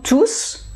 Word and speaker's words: tous: pluriel je prononce tous s'il y a un nom à côté tout au pluriel tear us je ne prononce pas us voilà c'est la